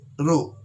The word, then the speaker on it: Rho: can see here that has to be pronounced test rope eh row okay so row is a